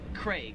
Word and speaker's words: Craig: australia they pronounce it craig they really emphasize that a craig whereas in america we just kind of pronounce that name as like like as if it had an e like c-r-e-g craig anyways those are the